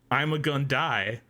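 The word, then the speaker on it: Ima-Gun Di: his full name is Ima Gun Dai. No. And no. Wikipedia says his name, pronounced like I'm a gun die, foreshadows his death in the episode.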